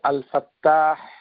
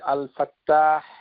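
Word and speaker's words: الفتاح: সেটাকে সেভাবেই দেখবেন কেননা আল ফা তা মুশাদ্দাদ ফাতহা আলিফ হা আল ফাত্তাহ তো এই নামটুকু কোরআনুল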